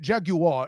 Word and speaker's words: Jaguar: It's not. It's a war. Not a wire. It's a war. Let's give Let's give the European fans a little credit. Jaguar is how they say it over there in England.